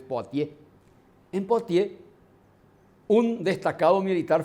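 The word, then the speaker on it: Poitiers: Poitier se escribe y se lee en francés. Poatier.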